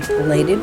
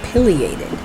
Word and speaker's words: pileated: that have never seen a plated woodpecker or pileated depending upon how you want to pronounce it this is and